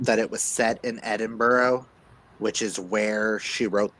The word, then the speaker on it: Edinburgh: I've always thought it was pronounced as Edenberg. No, you're you're pronouncing it with an English pronunciation when it's a Scottish pronunciation. Oh, gotcha. So, it's Edinburgh.